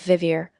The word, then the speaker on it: vivir: Listen to the pronunciation of vivir. The V sounds just like in English and make sure you pronounce those vowels clearly, as we talked about earlier.